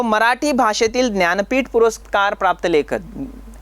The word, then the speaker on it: ज्ञानपीठ: तो मराठी भाषेतील ज्ञानपीठ पुरस्कार प्राप्त लेखक, यहाँ पे मैं जब उच्चारण करता हूँ ज्ञानपीठ, हिंदी में उसका उच्चारण हो जाएगा ज्ञानपीठ।